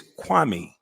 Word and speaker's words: Kwame: Because you haven't figured out how to pronounce my name in 20-something odd years, you clown. And everybody in the world can say my name. It's easy. It's Kwame.